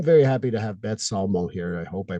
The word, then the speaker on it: Salmo: Still getting used to saying that word, but I'm very happy to have Beth Salmo here. I hope I pronounced it right. You did. Salmo.